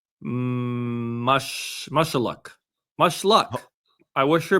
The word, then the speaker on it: Mushaluk: She's 34 years old and it's pronounced mush mushuck.